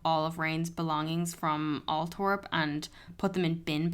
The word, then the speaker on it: Althorp: from people being like, it's actually Althorp, and like kind of dragging us for it. But do you know what? 1-star reviews because we pronounced Althorp wrong.